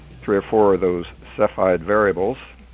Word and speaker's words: Cepheid: or four of those cephide variables Seaside variables you know how to pronounce that yeah I think it's I think it's cepheid taffyed okay um anyhow uh he